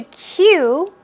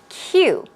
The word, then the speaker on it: queue: you don't have to queue too long which is great okay just in case you're not familiar with this word queue this word is pronounced as you would pronounce the letter Q okay q Q this